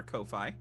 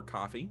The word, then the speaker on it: Ko-fi: month via Patreon or Ko-Fi, or Coffee, depends on how you say it.